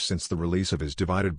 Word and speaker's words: ÷: in the four plus years since the release of his divided by album pronounced divide ed sheeran married longtime sweetheart cherry seabourn welcomed their first child daughter lyra and turned 30.